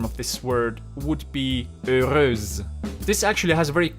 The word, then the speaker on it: heureuse: So the simple rule here is that if there is a letter like A or E or something else after the last consonant, then you will pronounce the last consonant as well. So in this word here, we can see that there is an E after the S, so I will say heureuse, so I will pronounce the ending as well.